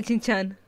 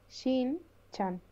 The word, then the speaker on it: Shin-chan: ¿Por qué me sale Chin-chan? Chin-chan. ¡Sí, tío! Me sale Chin-chan, ¿vale? Nunca mejor pronunciado. ¿No te viene? ¿Cómo es? A ver, lista. Es Shin-chan.